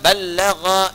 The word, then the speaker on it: ballagha: Dari kata ballagha yuballighu. Ya. Ballagha dibacanya, bukan bahasa Sunda balaga, ya.